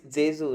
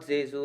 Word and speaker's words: Zezu: if I'm pronouncing it wrong David but it's zesu right uh David keep going J uh yeah it's it's it's jzu right yeah Jesu all right so we have David from zesu